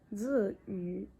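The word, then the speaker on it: Tzuyu: Là je suis en montage, je viens juste vous dire que en vrai, genre même en chinois, j'ai mal prononcé son nom. On dit Ziyu, donc voilà.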